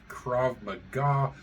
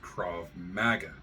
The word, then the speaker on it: Krav Maga: Verbal Judo and linguistic Krav Maga which I'm going to do everything in my power not to pronounce as KV magga uh it is just